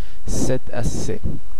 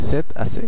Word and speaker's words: c'est assez: তখন আমরা ফরাসিতে যে এক্সপ্রেশনটি ব্যবহার করে থাকি সেটি হচ্ছে c'est assez, c'est assez, খুবই simple, c'est assez, c'est assez। শেষে জেডটা উচ্চারিত হচ্ছে না এবং এখানে তেটা আয়ের সঙ্গে সংযুক্ত হয়ে যাচ্ছে।